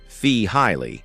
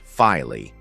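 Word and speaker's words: Feehily: Take a moment to listen to Mark Fihilly, pronounced Fee Highly, not Fily.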